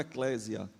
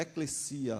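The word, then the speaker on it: ἐκκλησία: uma palavra grega chamada eclesia Que nós conhecemos muito como Eclésia se fala muito acerca da da palavra igreja como Eclésia mas é é eclesia a a pronúncia correta eclesia é dividido em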